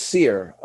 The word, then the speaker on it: Cyr: And then it's Cyr. So I guess I'll put on my best French accent.